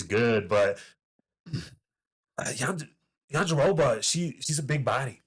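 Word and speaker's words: Jędrzejczyk: That's not how you spell it, but that's not how you say it. You got to say Yan Jedrzejczyk. Jedrzejczyk.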